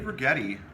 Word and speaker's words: Righetti: Dave Righetti. Rhymes with spaghetti.